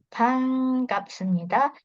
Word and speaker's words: 반갑습니다: Di sini ada bacim nian ketemu sama giok. Nah, kalau ada bacim nian ketemu sama giok akan dibaca seperti huruf eng.